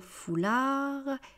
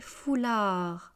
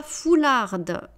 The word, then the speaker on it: foulard: des foulards foulard un foulard des foulards. Alors là je ne veux pas entendre la prononciation du D. Le D est une consonne. On ne prononce absolument pas la dernière consonne.